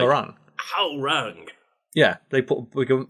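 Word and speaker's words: Hwoarang: 3 came out, and there's the character Harang, and that's the pronunciation like in Korean. But in like Tekken 3, it's like Hawarang, and that's how I pronounce it. That's how that's how the guy in the commentator for the game announces his name. Apparently it's not. It's like Harang.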